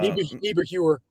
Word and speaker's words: Niebuhr: You think I'd have the common sense to ask somebody how to pronounce their last name, but I haven't yet. I'll get there. Oh, Mr. Niebuhr. Yeah, Niebuhr.